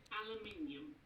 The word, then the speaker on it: aluminium: Basically, Yorkshire, aluminium. Okay, so Yorkshire, aluminium. aluminium. You're pronouncing a U, but All right. That was all. Aluminium. Like aluminium? Aluminium. Aluminium. But no U. Pronounce the U. Pronouncing the U.